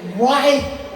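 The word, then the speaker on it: write: Susah banget bacanya. W R I T. Right.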